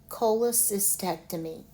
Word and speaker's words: cholecystectomy: So to pronounce this word, let's say it in the syllables slowly. Cholecist, ectomy. Cholecystectomy.